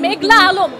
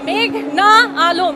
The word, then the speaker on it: মেঘনা আলম: আদালতে এসে শুনি পিপি বলছেন মেঘলা আলম। আমার নাম মেঘনা আলম, এই নামটা তারা উচ্চারণ করতে পারছে না, লিখতে পারছে না।